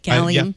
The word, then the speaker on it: Gallium: I'm pronouncing that correctly, right? Gallium.